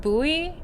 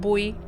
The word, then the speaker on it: buoy: I feel like in English is pronounced more like buoy. Yeah. instead of boy be it's shorter for